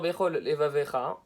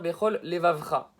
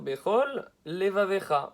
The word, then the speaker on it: levavecha: Le type, au lieu de dire bechol levavecha, il va dire bechol levavcha. C'est faux, il ne faut pas prononcer de la sorte. A posteriori, on a dit qu'il était acquitté. Mais il faut faire l'effort de prononcer comme il se doit. Donc, bechol levavecha.